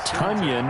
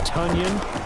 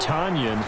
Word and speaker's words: Tonyan: so that catch by robert tunyan as in rhymes with onion the packers pr department revealing the news prior to week seven that it is tonyan not tanyan and for his part